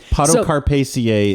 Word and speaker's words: Podocarpaceae: Podocarpaceae is right.